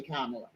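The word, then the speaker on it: Kamala: get mad at me for saying her name the way I say it because I only say it the way that when she first came out on the scene she said that's how to say it so y'all don't get mad at me for the way I say kamla all right and I'll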